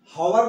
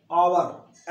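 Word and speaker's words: hour: एन आवर, हावर नहीं आवर, H silent है।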